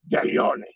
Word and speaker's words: Gaglione: So first of all, Becky O, if you're going to say my name, say it with respect and say it properly. You brag that you're half Italian, say it that way.